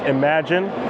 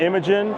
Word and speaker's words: Imagine: And just to let you guys know, it's pronounced Imagine, not Imogen, not Imogene. Imogene is an old lady, right?